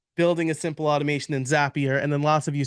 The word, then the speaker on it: Zapier: a couple years ago zapier is the proper pronunciation zappier like happier is what I was told so um building a simple Automation in zappier and then lots of